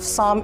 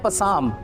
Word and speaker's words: psalm: The spelling of साम इज PSALM। आई am repeating it, PSALM। तो ये होना चाहिए कुछ लाइक दैट, पसाम, है ना, लेकिन ऐसा नहीं है। इसमें P साइलेंट है और LB साइलेंट है बीच में, तो इसे साम पढ़ा जाता है, ऑलराइट।